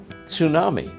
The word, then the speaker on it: tsunami: So is it tsunami or tsunami? Tsunami. Tsunami. It's tsunami. An R sound.